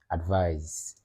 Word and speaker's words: advise: their part of speech the one that ends with SE would have to be pronounced with a z sound at the end so Z advice advise advice which is a